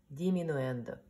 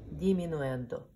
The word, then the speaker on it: diminuendo: no ENTER and Christian de let's repeat crescendo diminuendo let's do it again so first I will pronounce and then you go pronounce it crescendo diminuendo so Christian that means getting louder and even